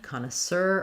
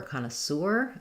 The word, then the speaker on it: connoisseur: You can either say sour or sir at the end, connoisseur or connoisseur, and I'll put a